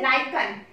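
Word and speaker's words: lichen: जैसे सबसे अच्छा एग्जाम्पल होता है लिटमस, लिटमस, और लिटमस को हम एक्सट्रैक्ट आउट करते हैं लाइकन, लाइकन या लिचन भी बोलते हैं, both the pronunciation are there, लाइकन और लिचन।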